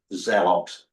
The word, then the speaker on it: Celox: It's if you see it, look online and look at Zelox. It's spelled with a C, CELOX.